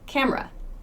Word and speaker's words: camera: cam we don't say the e sound in camera in fast speech we say camera camera it's that e again